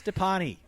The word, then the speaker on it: Dipane: however you want to pronounce it. It's Dipane.